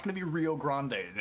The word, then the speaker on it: Rio Grande: It's not going to be Rio Grande, and it's going to be spelled like that, but it's going to be pronounced Rio Grande.